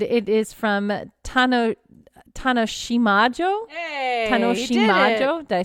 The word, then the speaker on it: Tanoshiimajo: Hey, Tanoshimajo.